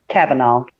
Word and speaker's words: Kavanaugh: amber here joined the bret cavanaugh us sorry kavanaugh kavanaugh's last night yeah it's spelled weird but this kavanaugh yeah u.s supreme